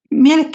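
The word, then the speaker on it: Mielikki: Sure and the pronunciations. Thank you. Milik is the goddess of the forest and she's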